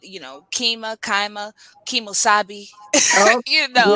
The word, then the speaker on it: Qimmah: So the correct pronunciation is Qimmah, you know, in Arabic. So, you know, they'll say Qimmah, and the meaning of the name is highest point on a pinnacle.